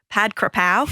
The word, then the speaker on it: Pad Krapao: It's called Pad Krapao. It's spelled numerous different ways, but for the Aussies out there, Pad Krapao is probably the easiest way to remember and to say it.